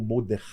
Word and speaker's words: Mordecai: primo, o açoiro, desculpe, o Mordecai ou Mordei, né, como se fala em hebraico.